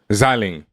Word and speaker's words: Xialing: Now, like Zhang Ling, that's how, am I pronouncing it right? Xialing? Xialing.